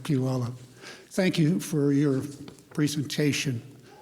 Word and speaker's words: Puyallup: I think it took me a few years to learn Puyallup or Puyallup, one or the other.